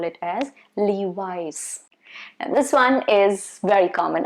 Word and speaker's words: Levi's: i have for you is levi's not levis no not not louise no levis and you see there